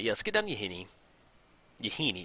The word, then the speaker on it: Yahenni: go and get down you hynny I think I like that yes good on you honey you Heaney excuse me I used to say it wrong for a long time and then you say